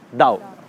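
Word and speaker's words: Tao: इसको पढ़ते हैं तो इट इ ता टी एओ बट we pronounce it एस दाउ दाउ का मतलब होता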